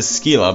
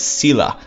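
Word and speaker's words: Scylla: there was the unit called skila well I pronounce it skila but apparently it's cila so I know you guys always correct me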